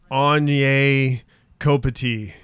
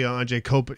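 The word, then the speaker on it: Anže Kopitar: They mispronounce every single player. Anye Kopati. Yeah, it's like no, it's actually Anje Kopati.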